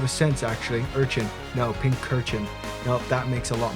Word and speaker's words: Pincurchin: Pincurchin? Pincurchin? Is that how you say it? Pincushion? Pincushion? I'm gonna say pincushion. Yeah. I know it's pincurchin, but that just doesn't sound like something my mouth wants to say, actually, so I'm gonna call him pincushion.